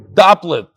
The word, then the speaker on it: Dopplet: Dear Belly, Yosli Dopplet. Here again, rhymes with coupled, with the first syllable stressed doubled syllable.